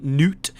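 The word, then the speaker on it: Knut: I know somewhere, it might have been from the demo, his name is spelled like nut, and I always read it as nut, but it's actually Newt.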